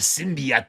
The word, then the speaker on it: symbiote: The symbiot that Peter Parker rejected, Eddie Brock embraced." So is is it the symbiote? It it it's pronounced symbiot.